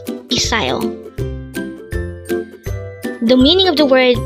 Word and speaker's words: 비싸요: BISSAYO. Again, it's BISSAYO. This is pronounced as a 3-syllable word. The first syllable is B, second syllable is sa, and third syllable is yo. Pronounce it with me. BISSAYO.